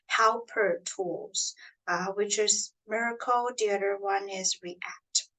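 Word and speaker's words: MRKL: to solve tabular data are one is called Miracle system so it's m r KL it's pronounced as Miracle so this system combines large language model with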